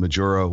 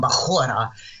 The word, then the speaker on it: Majura: I love the best pronunciation of my name that actually takes place in Spain, because then my name is Jen Majura.